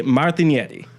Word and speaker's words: Martignetti: yep and over there if somebody were to say my full name this is how I'm like 100 sure it would be pronounced Martin Yeti something like that Martin Yeti martinet yeah like the G basically turns it into this weird Y sound okay um but over